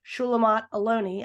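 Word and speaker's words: Shulamit Aloni: read once that on former Israeli education Minister shulamat aloni I think is how you pronounce her name she said on Democracy Now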